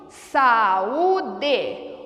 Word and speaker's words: saúde: Veja a palavra saúde. Saúde. Opa! As vogais se separaram. O U ficou sozinho. Eu preciso acentuá-lo.